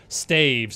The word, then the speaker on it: staves: I say staves, but it's supposedly staves, if you want to be technical, but I don't like calling it that.